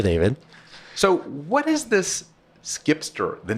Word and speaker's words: zkipster: So here's how you can memorize for next time. Okay. It's skip the line.